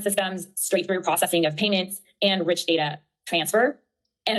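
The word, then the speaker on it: PYMNTS: This is from actually P Y NTS, but it's pronounced payments.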